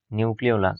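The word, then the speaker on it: nucleolus: contain ক্রোমোজোমের নিউক্লিয়াস নিউক্লি নিউক্লিওলাস sorry নিউক্লিয়াস না নিউক্লিওলাস এই যে বলের মত জায়গাটা সেটার নাম হচ্ছে নিউক্লিওলাস উচ্চারণটা কি হবে নিউ ক্লিওলাস ওকে নিউ ক্লিয়াস নাকি কিন্তু নিউ নিউক্লিওলাস অর্থাৎ নিউক্লিয়াসের ভেতরেও যেই ছোট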